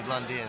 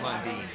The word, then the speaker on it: Lundin: Everybody calls me Lundin, but it's pronounced Lundin.